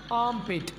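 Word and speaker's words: armpit: दोस्तों इस लफ्ज़ को प्रोनाउंस करने का करेक्ट वे है आर्मपिट। यहाँ पर हम आर को साकिन रखेंगे तो ऐसे बोलेंगे आर्मपिट, आर्मपिट, ना कि आर्मपिट। ये वाली प्रोनाउंसिएशन बिल्कुल गलत है।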